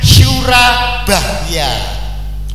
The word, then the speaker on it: Surabaya: engak Nah itu beda Nah itu Jawa kuna juga itu bacanya Sura bahya jadi artinya Sura itu